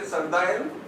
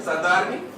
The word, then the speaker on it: Sardarni: people, old Sardarji and, how do you say Sardayan? Yeah? Okay, Sardarni.